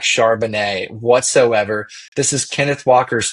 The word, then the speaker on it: Charbonnet: of someone that has a last name that rhymes with Chardonnay. I am not scared of Zach Charbonnet whatsoever.